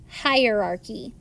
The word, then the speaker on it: hierarchy: Our vocabulary word today is the word hierarchy. You pronounce it like this, hi-er-archy. Hierarchy.